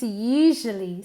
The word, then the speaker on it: usually: It's usually sunny in Málaga. It's usually. Listen to the pronunciation. Usually. Es una SH vibrada.